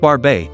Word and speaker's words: Babe: children he was affectionately known as babe pronounced barbet a term of endearment